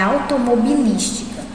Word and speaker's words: automobilística: Já esse outro quadrinho, a palavra é automobilística. Então, vamos pronunciar a palavra. Automobilística. Olha aqui, automobilística. É o li, né? Eu passo mais tempo no li.